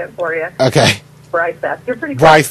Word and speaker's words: Breiseth: Breiseth? Oh, I was just going to say, why don't I just say it for you? Okay. Breiseth. You're pretty close. Breiseth.